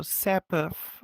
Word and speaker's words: Sapifh: The funny thing is my name is pretty hard to pronounce for a lot of people because the H is confusing for them, but it just makes the F softer. So it's not Sapifh, it's Sapifh with a long soft F on the end.